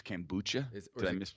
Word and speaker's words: kombucha: organisms in it okay I can bucho it's kombucha is it can bucha is alright I'm if